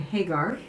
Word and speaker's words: Hagar: Sarah and Hagar we just decided that her pronounce her name Hagar um and I'd like to introduce you to